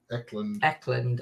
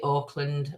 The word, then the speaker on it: Eckland: Is that Auckland? Eckland. I pronounced it Auckland on members, so you might get proper pronunciation now.